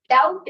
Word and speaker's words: doubt: नो डाऊट नाही, डाऊटच म्हणायचं. फक्त हे जे बी आहे ना ते सायलेंट बोलायचं. बोलायचंच नाही ते ऍक्च्युअली. डाऊटच म्हणायचं बट B should be very silent.